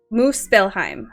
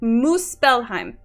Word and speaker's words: Muspelheim: Phonetically, how do you say Muspelheim? Muspelheim. Stop being mean to me. Don't just LOL me. Is it... Okay, Latin? I would say Muspelheim. But that's... Whatever you're saying, it sounds good. Thank you, Oofy. See? It's terrible, but it sounds good. I might need you to spell that out. Alright, it's M-U-S-P-E-L-H-E-I-M. Muspelheim. I'm pretty sure Muspelheim. Thank you. Muspelheim. Yeah, Muspelheim. I'm going with Muspelheim.